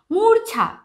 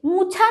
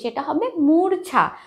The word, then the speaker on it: মূর্ছা: আছে, মুছা নয় কিন্তু, সেটা হবে মূর্ছা, উচ্চারণটা হবে মূর্ছা। তারপরে আছে মূর্ছনা, ময় দীর্ঘ ছয় রেফ দন্তন নয় আকার, মূর্ছনা। মাঝে কিন্তু রয়ের উচ্চারণটা অবশ্যই অবশ্যই আসবে, না হলে কিন্তু উচ্চারণটা ভুল হবে।